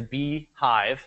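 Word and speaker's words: BeeJive: And the app that I, again, like, and there are other ones out there, is Beehive. That's how you pronounce that.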